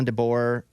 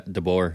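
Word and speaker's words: DeBoer: million bucks a year at Washington like Kell dbor that's how you say his name yeah dor yeah dor I never say it with a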